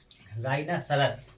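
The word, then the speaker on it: rhinoceros: इसके भी शुरुआत में क्या है? आर एच है। क्या है? आर एच। इसमें भी क्या रहेगा अपना? एच साइलेंट रहेगा। अर्थात एच का उच्चारण नहीं होगा।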